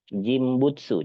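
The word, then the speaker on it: 人物: dikombinasikan dengan kanji mono jimbutsu cara bacanya sama-sama onomi ya dibacanya ya Nah artinya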